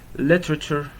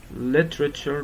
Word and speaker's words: literature: Literature. Literature, don't say literature.